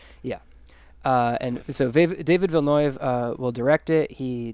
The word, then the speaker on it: Villeneuve: would like because nueve yeah i always said villanova but i looked up the i looked up the pronunciation and it's vilnius yeah uh and so david vilnov uh will direct it he directed sicario and